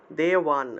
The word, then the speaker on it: দেবান: দেব দেব যে সকল দেবান আচ্ছা দেবান একসাথে দেবান দেওবান উচ্চারণ হবে আসলে দেওবান আচ্ছা এখানে যে জায়গাতে ব থাকবে আপনারা সেটাকে ওয় রূপে উচ্চারণ করবেন ঠিক আছে দেওবান তারপরে